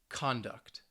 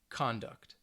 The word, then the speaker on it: conduct: nouns first right here so the stresses on the first syllable present present object object conduct conduct so you should be able to hear the stress on that first syllable now if we are